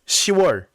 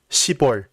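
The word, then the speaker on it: 시월: And October is pronounced 10월, not 10월.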